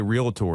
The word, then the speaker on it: realtor: I guess I say realtor, and it's realtor, so I need to work on this.